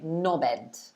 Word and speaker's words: knob head: together like knob head lots of people normally drop the h when they say it so they'd say no bed no like that you